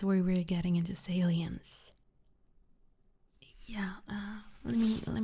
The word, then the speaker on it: salience: It's aliens basically.